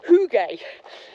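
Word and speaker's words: hygge: been here is that that word is actually pronounced hug and I'm probably still getting that wrong so yeah sorry Denmark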